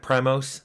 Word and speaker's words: PRIMOS: Looks like Primos, the band, or Primus, or whatever. But it's pronounced Primos.